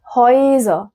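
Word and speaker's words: Häuser: اوي بعد كده معايا الاي املاوت مع الاو الاي اوملاوت مع الاو ما بتتنطقش حاجه جديده عن اللي قبلها هي بتتنطق اوي بتتنطق اوي زي كلمه ايه مثلا زي كلمه هويز هويز هويز دي هويز جمع هاوس يعني س هاوس اللي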